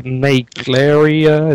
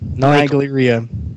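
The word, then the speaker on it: Naegleria: And then our second guest, all the way from Canada, we have Naglaria. Is that how you say it? Nigleria. Nigleria.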